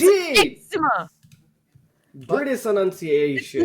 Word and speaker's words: eczema: What if, yeah, I was gonna say, what if you have a type of eczema? Eczema.